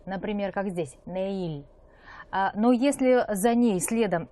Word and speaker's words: 내일: Буква риэль в начале слова она читается как р, в подчиме она читается как л, например, как здесь, неиль.